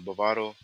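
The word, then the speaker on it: Bávaro: But Bavaro is the pronunciation, and I think it's a good place to stay um, if you're trying to be in the mix.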